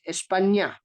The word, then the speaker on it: España: España is ña. Look at our España, and yes, it has told us that the pronunciation is ña, ña. So it's not na, okay? It's like an ny, ña in English, and nj in some other languages.